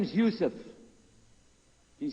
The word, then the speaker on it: Yusuf: we'll work on it sh my name is Yousef can you say Yousef you say Yousef you're very good I wish you teach my wife she keeps mispronouncing it she calls me useless attention this is the first one you see